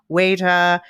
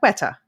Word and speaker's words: Weta: Weta. I'm pronouncing it too Dutch. Weta.